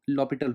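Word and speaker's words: L'Hôpital: In this case, we use a L'Hospital rule, which is sometimes pronounced as L'Hopital rule, but most of the students says L'Hospital rule, so I'll go with it. So by using L'Hospital rule, so how to use L'Hospital rule, I'll tell you.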